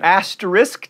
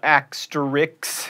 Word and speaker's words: asterisk: triathlon not a triathlon asterisk not axtrix and affidavit there's a